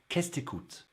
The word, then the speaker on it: Qu'est-ce que tu écoutes: Well, it's Qu'est-ce t'écoutes? Qu'est-ce t'écoutes?